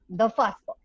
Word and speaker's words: The Fusspot: And am I pronouncing it correctly? Perfectly. The Fusspot.